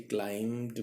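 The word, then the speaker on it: climbed: वापस चढ़ गए, क्लाइम्ड, बी साइलेंट होता है क्लाइम के अंदर, इसलिए क्लाइम्ड बोलेंगे, बी की साउंड नहीं आनी चाहिए।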